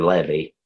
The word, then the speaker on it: Levi: number the tribe of Levi or levy some people pronounce it neither take the